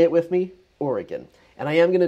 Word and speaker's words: Oregon: It's Oregon, not Oregon, Oregon. So if you want to say it with me, Oregon.